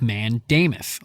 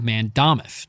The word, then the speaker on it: mandamus: That provision was called a writ of mandamus or writ of mandamus, depending which syllable you want to put the emphasis on.